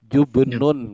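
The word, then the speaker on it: جبن: saya spat dulu ngaj kalau Keju itu arti cara bacanya jubenun Pak jadi ya silakan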